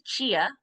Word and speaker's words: Ch-a: So my name is Chia. That's the first thing is it's spelled ch- a. And so most people are like, "How do you say that girl's name?"